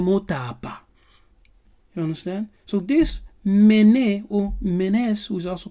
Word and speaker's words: Menes: And this Namer is also called Menes. The S being silent, so you will have to pronounce it as Mene.